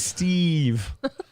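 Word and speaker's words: Steeve: Kian and Frenchman and his first name is Steve yeah like the whitest name ever but it's Steve but it's spelled s-t-e-e-v-e so he's Steve Steve oh you fat I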